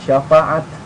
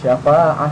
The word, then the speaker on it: شفاعة: Syafa'ah, bukan syafaat, tapi syafa'ah, karena ini taknya tertutup, bukan seperti ini terbuka. Nah, makanya dinamai tak marbutoh ya.